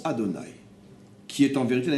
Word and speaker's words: Adonai: Il s'écrit Havaïe et on le prononce Adonai, qui est en vérité la même chose que Elohim.